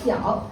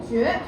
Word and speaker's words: 角: 我們一起看一下這個字有時候可以讀角，有時候可以讀絕。